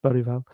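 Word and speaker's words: Bergvall: Gray, Bereval, and see the pronunciation there? Bereval.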